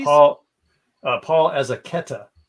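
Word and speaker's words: Paul Azaceta: And this is Paul Azaketa is how it's pronounced.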